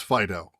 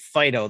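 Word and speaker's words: Fidough: nameless it wasn't quite fido though was it was fight it's pronounced that's right it's just d-o-u-g-h it's dough yeah perfect yes so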